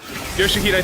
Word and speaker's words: Yoshihide: Yoshihide, that's how you say it.